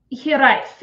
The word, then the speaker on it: Hiraeth: Is it Hiraeth? Hiraeth. It is a Welsh word that specifically it is used to refer to Wales.